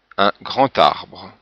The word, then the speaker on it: grand arbre: Alors remarquez que quelquefois dans ces liaisons, le son de la consonne change un peu, comme ici le D en position finale se prononce comme un T, un grand arbre.